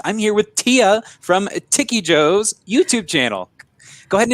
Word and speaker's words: Tikyjo: But I think of it as Tikyjo, but I guess it doesn't really matter.